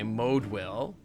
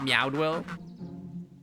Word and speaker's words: Moedwill: Okay, Moedwill. Got it. Not Meowdwill. At this very moment, she's working on Working to help us meet our deadline.